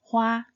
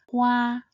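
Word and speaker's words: 花: It is pronounced as Hua. It consists of the initial He and the compound final Wa. He, Wa, Hua. This character is pronounced in the first tone. Hua, Hua.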